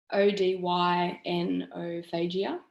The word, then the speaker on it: odynophagia: if anyone knows how to say this is odenophagia is that right yes odynophagia so after eating that neck stretching and just